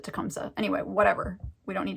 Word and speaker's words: Tecumseh: marketplace find in tecumseh michigan which the locals pronounce to come see um but i would pronounce it takumsa anyway whatever we don't